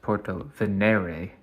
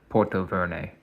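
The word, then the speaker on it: Portovenere: also realize now that is actually pronounced Porto V not Porto ver sorry guys and then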